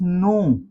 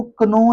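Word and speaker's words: knee: नी क्या दोस्तों नी को कनी पढ़ा जा सकता है? कनी कभी भी नहीं पढ़ा जा सकता। कभी भी नहीं आप कह सकते कि मेरे कनी के अंदर दर्द हो रही है। आप कहेंगे मेरे नी के अंदर दर्द है। तो नी वर्ड है के इसमें साइलेंट है।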